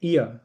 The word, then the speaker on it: er: वो और जर्मन में इया it's pronounce the same as the alphabet are in German ए और फिर जी